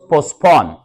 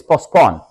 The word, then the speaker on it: postpone: reason the event was postpone T is silent postpone T is silent don't say postpone okay it's postponed so therefore the event